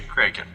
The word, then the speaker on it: kraken: In modern German, crake means octopus, but can also refer to the legendary kraken, or as some would say, kraken.